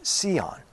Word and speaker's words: Sion: the Heavenly Jerusalem or Sion sometimes pronounced seon a place on the